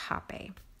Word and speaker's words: Rapé: There's an accent over the E, and it's pronounced RapÉ, but I still hate how it's spelled.